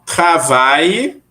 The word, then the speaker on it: travaille: Então, travaille, Repetir. Travail. Travail. Travail. Parfait. Então, eu trabalho vai ser como? Je Travail. Travail. Je travaille. Muito bem. Com o E no final, mas não se pronuncia, ok?